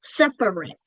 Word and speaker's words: separate: Separate. It's spelled separate, but because we say the word quick quickly, we reduce that middle syllable.